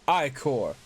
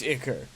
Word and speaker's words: ichor: That's pronounced ichor, not ichor, you dumbass.